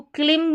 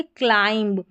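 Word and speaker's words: climb: अब इसको क्लिंब नहीं पढ़ेंगे। क्या पढ़ेंगे? क्लाइंब और यह है क्लास।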